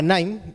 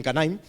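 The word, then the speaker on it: KNIME: información de sus datos la herramienta se llama nim eh la casel es her muda de acuerdo Aunque algunas personas Lo pronuncien canim eh Es una herramienta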